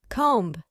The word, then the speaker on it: comb: This word is pronounced as comb.